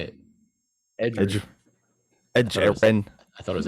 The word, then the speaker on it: Edgerrin: Edgerrin. I thought it was Ed Jaron.